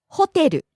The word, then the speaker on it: ホテル: 駅 Next, ホテル hotel. ホテルホテル Starts high, falls on the second syllable te, stays low.